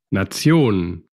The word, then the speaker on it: Nation: Bueno, luego la T normalmente como T, Tor, Tor, y tenemos todas las palabras que terminen en, escritas en tion, pero se pronuncian tion, como nación, Nation, nación.